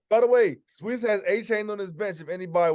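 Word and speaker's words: Achane: Oh, by the way, Sweets has A-Chain on his bench, if anybody was wondering. 53 points. He said he wants to pronounce his name A-Chain, so just so y'all know.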